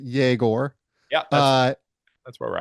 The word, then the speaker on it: Egor: Tell me about your impressions of Igor first and foremost. I think he pronounces it Yegor.